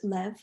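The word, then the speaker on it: לב: and no so this word in hebrew it's pronounced lev it translates to heart or mind um directly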